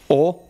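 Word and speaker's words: を: of the particles too like you know how o AKA W but you pronounce it as o is used for like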